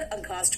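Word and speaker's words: aghast: लेकिन याद रखना यहां एच साइलेंट है। एच यहां पे साइलेंट है। इसीलिए मैं सिर्फ आपको याद करने के लिए बोल रही हूं कि घोस्ट देखकर अगस्ट हो गई।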